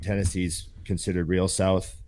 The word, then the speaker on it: Tennessee: you gotta say no you gotta say it like that it's like fantasy tennessee there you go taxi fantasy there's a there's an a in there right ten ten c yeah yeah yeah you